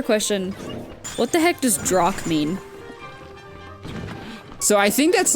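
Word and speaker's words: drokk: So the reason why I'm confused with the term Drock is because of all the different situations that they use it in.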